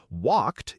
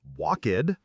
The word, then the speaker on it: walked: Walked is one beat, not walked.